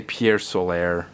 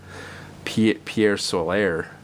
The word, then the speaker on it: Pier Solar: I used to say Pier Solar or something, which someone pointed out. Why are you trying to say it like it's French?